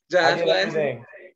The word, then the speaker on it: Plasse: But his name is Josh Plasse. Am I pronouncing the last name correct? You're the first person to ever pronounce it correct in my life, man. Well done. Okay, Josh Plasse.